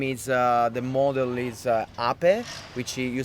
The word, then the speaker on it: Ape: and the name is the model is Ape, which you spell it APE, Okay.